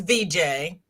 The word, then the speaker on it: Vijay: It's VJ. VJ. I tell everybody I'm sorry. that's okay because it's spelled Vijay, but it's the Asian spelling of VJ.